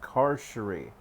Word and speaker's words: Carcery Vale: Carcery Vale. Carcery Vale? I murmur. It's pronounced Carcery, Dervish grunts.